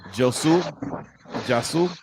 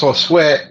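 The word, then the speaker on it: Josué: Jasu, I think it's Josue. Josue. Oh, yeah, Okay, like Joshua, but it's Josue.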